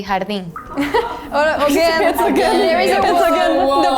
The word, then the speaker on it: jardín: In Spanish, we say jardín. There is a The pronunciation is so different, so we don't hear the similarity.